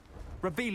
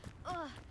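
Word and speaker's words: Revelio: Where are you, Revelius? You're saying it wrong. Reelious.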